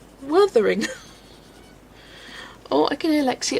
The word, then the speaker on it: Wuthering: Because I've always said Wuthering Heights. And Mum's like, it's Wuthering. And I'm like, Wuthering. She goes, it's not Werther's Originals. It's Wuthering. There's no O. And I'm like, Wuthering.